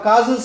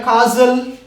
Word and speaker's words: castle: T is silent here. That's why we have to pronounce it as a castle.